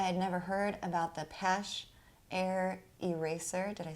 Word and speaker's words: Paasche: I had never heard about the Paasche Air Eraser.